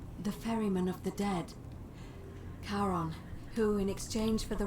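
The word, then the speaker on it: Charon: it's just as you described it only your pronunciation is a little off the name you heard wasn't karen it was c-h-a-r-o heron as in caron the ferryman of the dead karon who in exchange for the right coin helps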